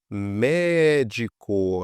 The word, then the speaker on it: médico: Se a gente separar em sílaba aqui, ó, lâmpada, médico, a gente vê que a antepenúltima que é a mais forte.